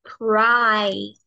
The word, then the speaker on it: cry: No decimos cri. Recuerda que la pronunciación es diferente a cómo se dice en español. Como lo leemos, no se pronuncia exactamente igual.